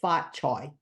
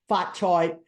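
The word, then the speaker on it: 髮菜: I was a kid, phonetically, in Cantonese, we call it Fat Choy. Fat Choy.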